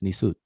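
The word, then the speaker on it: nisut: or right seti no it's not sutin it's it's nicot so he's right he's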